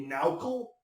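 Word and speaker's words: NaOCl: just as an aside chemists like to pronounce all of these things phonetically or at least some chemists do so nao CL can be now cool it's kind of fun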